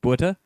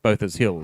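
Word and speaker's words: Botha's Hill: that is and why he didn't call it BHA, it's because you're in Nutell. It is pronounced Both's Hill here.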